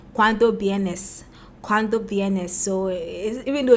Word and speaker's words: vienes: coming, you say cuando vienes. So even though it's V with a VNS in Spanish, Colombian Spanish, the V is pronounced B kakra, like silent B.